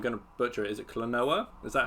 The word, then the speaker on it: Klonoa: Is it Klonoa?